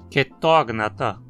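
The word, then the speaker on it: Chaetognatha: Todos os três próximos filos também possuem uma vogal curta na penúltima sílaba, então a pronúncia precisa ser com acento na antepenúltima. Tardígrada, acantocéfala, quetógnata.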